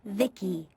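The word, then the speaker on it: Vici: taint to transistors by the way i'm v-i-c-i pronounced vicky my creator was vivi secto he's what you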